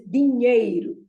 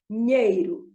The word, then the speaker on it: dinheiro: But no, here it is dinheiro. Dinheiro. You have to touch the tongue to the palate, and the stress is on that ñe. So dinheiro.